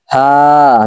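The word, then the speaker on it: ح: রয়েছে হা লাম কাফ হা লাম কাফ হা লাম কাফ এখানে যে হা টা রয়েছে এই হা টা হ লক্ক তথা কণ্ঠনালীর শুরু থেকে হবে এখানে আপনি হা এরকম বললে কিন্তু এটা ভুল হবে আর কণ্ঠনালী যদি আপনারা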